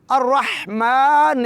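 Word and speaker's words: الرحمن: उसके बाद आयत करीमा अ रहमान रहीम इसके अगरचे पहले बात हो चुकी है रहमा की मीम को दो हरका के बराबर लंबा करेंगे रहमान तो मुकम्मल कैसे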